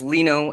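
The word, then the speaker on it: Lino: name just Leno like it's pronounced Leno as in if it was spelled l n o you know but the I is sounds like an e yes Leno okay Leno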